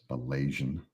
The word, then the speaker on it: Malazan: Rhymes with Malaysian. Fight me. Yeah. If I could get over there quickly, I would. Malaysian.